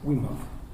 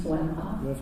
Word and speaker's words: Wimhoff: Wimhoff. It's Wimhoff. I'm just going to mispronounce everybody's okay.